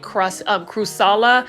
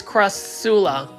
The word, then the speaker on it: Crassula: I was calling it crusala, but it's crassula.